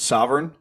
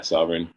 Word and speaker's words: Søvyrn: launching and i just want to get my pronunciation correct sovereign yeah sovereign all right so that's where you launched a